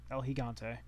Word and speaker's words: El Gigante: to the El Gigante or hante higante higante El higante that's how you say it times two because